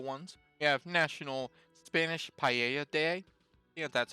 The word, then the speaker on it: paella: quick they're simple ones we have National Spanish paella day yeah that's how it's pronounced paella yeah which if you haven't had it before